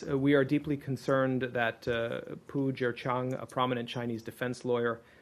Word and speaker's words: Pu Zhiqiang: I believe his name is pronounced Pu Zhiqiang. MR RATHKE: Yes. We are deeply concerned that Pu Zhiqiang, a prominent Chinese defense